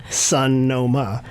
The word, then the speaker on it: Sonoma: You sounded like you were emphasizing different syllables of Sun. I know. Sun, like S-U-N? S-U-N, and then dash O, and then dash ma.